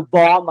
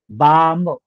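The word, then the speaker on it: balm: मिळतो okay same way जर एल नंतर एम आला तर एल चा उल्लेख केला जात नाही जसं पाम खाम पाम आपण डोक्याला जो लावतो ना झेंडू पाम बरोबर तो आपण उच्चार करताना आणि स्पेलिंग बोलताना अरे तुझ्याकडे झेंडू बॉम आहे आपल्याला डोक उडवायच आहे का डोक्याला बाम लावायच बाम म त्यामुळे जे आहेत ना बी ए एल एम बाम त्याचा एल उल्लेख होत नाही बालमनी म्हणायचं कालम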